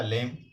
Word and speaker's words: phlegm: फिर है PHLEGM, तो ये पढ़ा जाएगा आपका लेम, लेम पढ़ा जाए। लेम मीन्स होता है बलगम। बहुत से शब्द ऐसे होते हैं जिनमें कुछ जो अल्फ़ाबेट होते हैं, कुछ लेटर्स होते हैं, वो साइलेंट होते हैं, उन्हें नहीं पढ़ा जाता है। ज़्यादातर जब लगातार कॉन्सोनेंट आते हैं तो उनमें से लास्ट वाला ही पढ़ा जाता है।